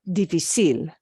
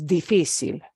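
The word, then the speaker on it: difícil: easy fussy it's difficile it's not divisil the way it's pronounced is difficile difficile we need a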